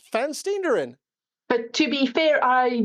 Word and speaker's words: Van Steenderen: was exactly on it you you pronounce it ferin f f fan steerin but to be fair